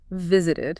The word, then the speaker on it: visited: If a verb ends in a T or a D sound already, you can't just stick another T or D on there. You wouldn't be able to hear it clearly. Exactly. So we have to add a whole extra syllable. An ed sound, so it's visited.